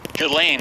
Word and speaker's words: Ghislaine: How do you pronounce her name, Johnny? Ghislaine, that's according to Vanity Fair.